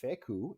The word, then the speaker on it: Fecou: We have Louie Fecou, and he is a.